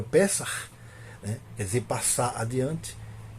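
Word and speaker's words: פסח: Alguns pronunciam Pessah, embora quando se a portuguesa se escreve como Pesach, o CH no final. Só que esse CH ele corresponde a uma letra hebraica que tem um som aspirado, como o nosso R final.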